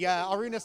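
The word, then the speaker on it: Arūnas: Arunas tells me I'm the first person to pronounce his name right.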